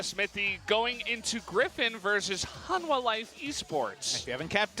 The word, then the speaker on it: Hanwha: was hung Kwong yes the H before the W which is again not how it's written but how it's supposed to be pronounced so that's what we're